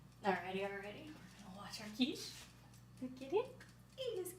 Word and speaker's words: quiche: We're like, "We have the quiche," and I was like, "That's how that's pronounced."